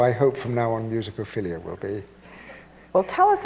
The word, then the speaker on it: Musicophilia: Musicophilia. Musicophilia.